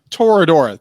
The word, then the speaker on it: Toradora: on FUNimation and we watch Toro it's Tora Toradora thank you I know I know was gonna mispronounce it it's an odd word it is